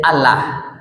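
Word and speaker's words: الله: di atas berbarisnya fatah Allah berarti bacanya tafkim tebal j Allah ya bapak ibu kalau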